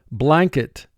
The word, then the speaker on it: blanket: mark the word blanket notice the letter n is representing its second sound remember when the letter